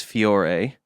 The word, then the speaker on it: Fiore: First was Fiore, which came from, that's how you say it, correct? Yes.